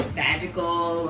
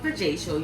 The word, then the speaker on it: Vajacial: A lot of people be calling it vagical, or you know, a hard time pronouncing it, but it's called Vajacial.